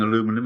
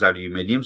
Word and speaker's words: aluminium: American listeners cuz I'm going to insist on mispronouncing aluminum as aluminium, so please forgive me for that, all right?